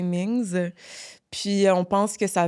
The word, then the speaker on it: Mings: C'est que je pense que en mandarin, il n'y a pas de prononciation de la lettre S, si je me trompe pas. Fait que non. si c'était asiatique, ce serait Ming. Ouais. Ah. Fait que là, c'est Mings.